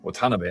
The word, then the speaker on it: Watanabe: like Max Watanabe uh Watanabe actually I think is actually the correct intonation as I just kind of recently realized I had been uh not exactly saying it wrong, but I think the uh it's not intonation, but what do they call it? I don't know if it would technically be intonation or pitch accent cuz Japanese uses pitch